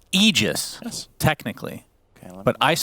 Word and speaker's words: Aegis: It's Aegis, Yes. technically. Okay, But Ice Frog himself said, no, I want everyone to mispronounce it as Aegis.